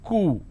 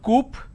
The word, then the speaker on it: coup: plurality determination derivatives apartment disagreement dislodge coup is cool it's not coop or cow it's cool isolation quarantine gesture lot of people pronounce this as gesture it's not gesture just